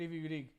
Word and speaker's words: Kryvyi Rih: Actually, are you not pronouncing it Russian instead of Ukrainian? Because wouldn't Ukrainian be the H? No. In the Russian that means Krivoy Rog. Oh, okay, that's different then. Okay. Yes. Kryvyi Rih.